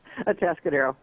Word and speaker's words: Atascadero: Atascadero.